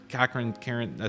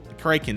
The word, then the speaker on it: Kraken: Kraken. It's Kraken. That's it. I was like, I couldn't think of how to say it, but it's Kraken.